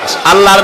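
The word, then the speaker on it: الله: দ্বীন Islamic চিন্তাবিদ আল্লামা দিলোয়ার হোসেন সাইদ রাহিমাহুল্লাহ আল্লাহ রাব্বুল আলামিন উটের দেহ তৈরি করার সময় এমন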